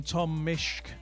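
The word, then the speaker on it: Tom Misch: And the fact that the sample from Tom Mishk, that's how you say it, has already been identified in 30 seconds, that's why it's not on their album.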